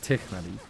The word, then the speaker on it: Tinari: Anyways, the joke about Tinari for anybody who doesn't know is his name is pronounced Tiknadi. I don't say it like